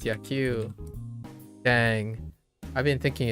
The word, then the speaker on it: 野球: Yaku. Oh, I've been mispronouncing this. I thought it was Ya. Q.